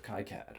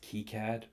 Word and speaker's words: KiCad: circuit boards is called Kyad or well, before any of you correct me, I know that uh more traditionally this is pronounced Keycad, but I've been calling it Kyad for four years.